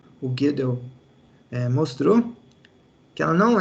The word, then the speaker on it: Gödel: Aí em 1931, como que pronuncia isso aqui? Gödel? Falo Gödel. Como é que é, não? Gödel.